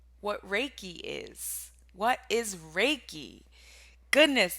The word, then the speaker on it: Reiki: really explain anything because i remember when i was introduced to reiki i used to pronounce it ricky and i had no idea what it was but i was interested